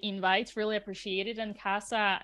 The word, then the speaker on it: Kassa: really appreciate it and Casa is that correct you me pronouncing your name yeah Casa mi casa su casa you know all right